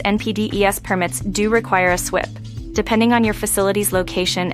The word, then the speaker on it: SWPPP: stormwater pollution prevention plan, or an SWPPP, often pronounced SWIP.